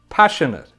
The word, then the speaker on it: passionate: Passionate. Passionate. It's an adjective. So nouns and adjectives that end with ATE are pronounced it at the end.